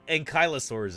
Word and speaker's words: ankylosaurus: UK you could call it an unur but ankylosaurus is how we pronounce it as American dinosaur pons I remember